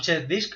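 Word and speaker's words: CHKDSK: Hago un check disk a G. Un check disk es para comprobar el disco. Hago check, que se escribe así, CHK y disk, ¿no? CHK, DSK. G dos puntos.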